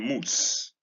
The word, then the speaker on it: mousse: crude, in queue, in mousse. This word referring to a cold dessert. This is loop. It occurs in moon, in mood, in bloom, in hoof, in mousse. This one pronounced exactly the same way as this one, M-O-U SSE and NOOSE.